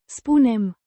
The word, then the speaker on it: spunem: With a distinct U. sound like in, moon, and a softer, n, sound at the end.